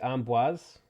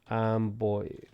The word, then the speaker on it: Amboise: How to pronounce Amboise. Amboise, France. Amboise. Okay. Amboise. I was pretty close with Amboise, but I was not saying Amboise. I wasn't saying the Z part of it. Amboise.